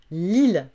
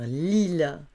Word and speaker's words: Lille: Lille, la ville de Lille, on va dire Lille.